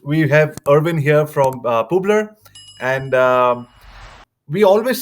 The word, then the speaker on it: Publer: By the way, it's pronounced Publer, so it's short for publisher because that's what he basically does.